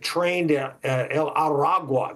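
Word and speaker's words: Tren de Aragua: our attention called the train Del aru I think that's the way you pronounce it trained araga that's what it is uh and they have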